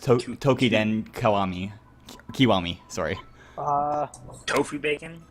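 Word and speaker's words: Toukiden Kiwami: Yeah, it's pronounced Tokiden Kiwami, sorry.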